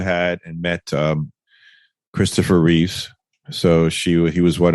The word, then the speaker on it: Reeve: you're an today correction my pop says Christopher Reeves with an S at the end but it's actually just Christopher reev the actor that played